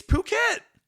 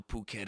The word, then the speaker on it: Phuket: I love how Phuket is written because if you just read it phonetically, it's ph. I've been spelling a lot this episode. You have. And if you read that, what sound does a ph make? Does it make poo?